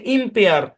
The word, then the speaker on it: impair: আচ্ছা, এই শব্দের উচ্চারণ হচ্ছে ইম্পেয়ার। ইম্পেয়ার, ইম্পেয়ার।